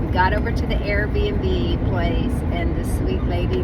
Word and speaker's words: Airbnb: rented us an Airbnb I don't know why I say it wrong sometimes I say rbnb she had rented us an Airbnb and so we really